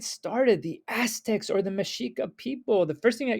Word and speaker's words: Mexica: Even though it's spelled Mexica, it's Mexica.